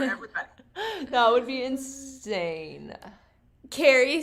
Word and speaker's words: Keyri: Her name is Carrie, but it's spelled Keyri. So I want to make Okay. sure I'm pronouncing it right.